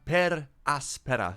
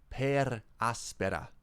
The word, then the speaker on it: Per Aspera: wait welcome to another per aspera stream there thank you gunner who sent me the actual pronunciation i wasn't rolling my r's enough per aspera per aspera good morning